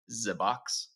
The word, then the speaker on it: ZEBOX: Is it ZEBOX? Yeah, that's exactly right.